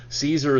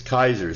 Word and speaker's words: Caesar: leader the kaiser and kaiser is the literal latin pronunciation of caesar caesar is the english pronunciation but the latin pronunciation is kaiser so kaiser refers to